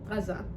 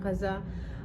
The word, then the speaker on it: Gaza: I used to say Gaza before, but as I engage with Palestinian events and I go to these protests, like, everybody is pronouncing it as it's supposed to be pronounced in Arabic, and because Arabic dialect